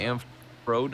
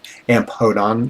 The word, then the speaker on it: Amphodon: probably It's amphodon, but it's probably pronounced more like P with an aspirant. Ampodon. Ampodon. P with a little breathing noise.